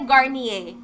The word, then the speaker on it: Garnier: kasi hindi ko rin talaga sure, sabi niya Garnier. Ayun. So, ayan. Speaking of Garnier, second word is on the screen na, guys. Second word, hula-hulaan nyo na para manalo kayo ng 2,000 pesos worth of Garnier products.